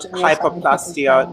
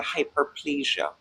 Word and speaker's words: hyperplasia: Just like the word for the umbrella term hyperlasia and like all it's not hypoplastia. No, it's not hypoplastia. You're pronouncing it incorrectly.